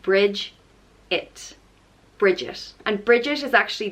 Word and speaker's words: Brigid: saint of Ireland and it's pronounced bridge it bridges and bridges is